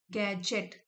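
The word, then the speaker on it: gadget: That no गैजेट, गैजेट can provide, गैजेट इसमें D silent है, जो कि कोई भी इलेक्ट्रॉनिक आइटम मेरे को नहीं प्रोवाइड कर सकता।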